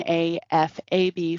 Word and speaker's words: AFAB: now as as for afab and amab those are um pronunciations of the acronyms a m a b for amab and a f a b for afab and they just mean assigned